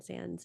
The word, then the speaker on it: Sands: by Julian Sans and I think it's pronounced Sans not s s yeah I've always heard Sans Sans Julian Sans and he's